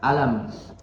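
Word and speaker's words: ألم: Jadi dibacanya lebih ditekan di hamzahnya. Alam, alam, alam, seperti itu ya. Lebih dinambar, tekan sedikit. Alam tara, ya, seperti itu, supaya tidak disangka alam itu termasuk dari satu kata.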